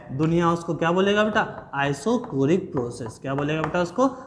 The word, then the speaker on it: isochoric: आइसोकोरिक process, अब पागल सर इसको आइसोचोरिक प्रोसेस बोलता है, तो ये आइसोकोरिक होता है, ठीक है, गलत प्रोनाउंसिएशन ना करें।